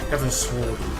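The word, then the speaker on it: Heavensward: If you listen to how they say it in game, it's Heaven's Sword.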